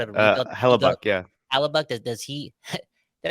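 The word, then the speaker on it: Hellebuyck: Halliubuck? I said it right? Halliubuck. That dude too. He kind of alluded to the fact that Yeah. he doesn't part of a rebuild. You go Hellebuck, yeah.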